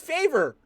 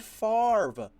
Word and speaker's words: Favre: They called him Brett Faver. That is Brett Favre.